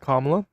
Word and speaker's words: Kamala: We're not gonna move on until you pronounce her name right. Kamala.